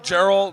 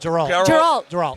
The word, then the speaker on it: Geralt: How do you pronounce his name? Gerald. Geralt.